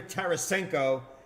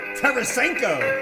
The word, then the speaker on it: Tarasenko: Garber Garber Yes siree Tarasenko man I got that name right where's sky blue and Andrews now I get those man Tara senko Terra rosenko four syllables Garber the Kraken yeah